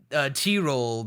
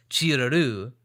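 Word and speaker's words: チロル: Tyrol, the way we would say it in English, is only like 2 syllables, but the way they say it in the show and the way it ought to be said is 3 syllables.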